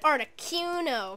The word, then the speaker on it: Articuno: I want an Articuno, because that's how you say it.